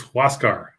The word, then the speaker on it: Huascar: it's uh you know no it's it's huascar oh that's right it's a who asks yeah who else car what's god yeah what